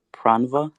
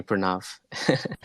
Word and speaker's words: Pranav: And is your name pronounced Dr. Pranva? Pranav? Yeah, you can just call me Pranav.